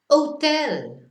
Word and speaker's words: hotel: But we never pronounce the H in Spanish, so we just go to the next letter. Hotel, yeah, never pronounced.